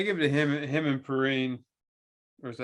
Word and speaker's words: Perine: Nathan, I give it to him and Perine. Or is that how you say it? Yeah, Samaje Perine.